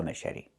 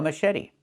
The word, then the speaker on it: machete: The ch makes a soft shh sound like in fish. Mush. And then eddie. The t makes a fast d.